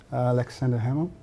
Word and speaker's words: Aleksandar Hemon: We are here live from Paraty, the 11th FLIP, International Festival of Literature from Paraty with Aleksandar Hemon. That's correct, the pronunciation?